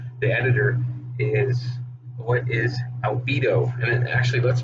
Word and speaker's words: albedo: The first notice you'll get when you come in the editor is, what is albedo? And actually, let's pronounce this correctly here. I found it. Albedo.